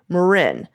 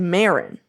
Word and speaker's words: Marin: shouldn't say out loud I cringed when I heard y'all pron pronounce Marin the emphasis is on the I not a big deal